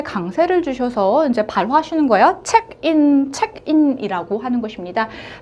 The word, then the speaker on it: เช็กอิน: 책인 같은 경우에는요. 영어 외래어예요. 순수 태국어가 아닙니다. 자 어떻게 자 성도 높나지는 어떻게 하고 어떻게 발음하고 발화하는가? 책 책 같은 경우에는요. 자, 단음절의 삼성 짧게 올라가 주십니다. 책 책. 그리고인 같은 경우에는 단음절의 평성 인.